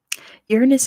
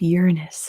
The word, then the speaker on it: Uranus: your husband lots of ringed planets out there Uranus is how it's actually pronounced Ashna that's how it actually pronounced like